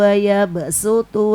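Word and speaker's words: وَيَبْصُطُ: Nah, yang ini ya sutu sama bastotan itu khusus shad di atasnya ada sin dibaca sin ya. Contohnya dalam Quran surah ke-2 ayat 245. Bismillahirrahmanirrahim. Man dzalladzi yuqridullaha qardan hasanan fayudifahu lahu atafan katsir wallahu yaqbidu waabsutu wa ilaihi turjaun.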